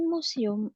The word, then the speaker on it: museum: The Science Museum is the most interesting museum in town. Museum tetap museum, Miss. Ya, museum. Museum. Museum. Museum. Museum. Dia pakai kayak Z gitu.